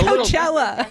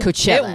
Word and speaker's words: Coachella: Am I pronouncing that correctly? No, wait, you're a Coachella. little too Coachella? Syllabically specific. You're too syllabically specific. I thought it was Bey-Chella now. It's You not could say Coachella. Coachella.